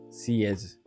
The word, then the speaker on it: xiezhi: In Chinese characters, it's written haze, pronounced cs.